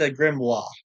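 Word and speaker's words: grimoire: this thing here from The Wizard Towers it's pronounced a grimo basically you get a bunch of mostly useless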